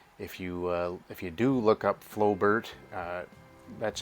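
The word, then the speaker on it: Flobert: If you do look up Flowbert, that's how it's spelled, Flowbert, F-L-O-B-E-R-T.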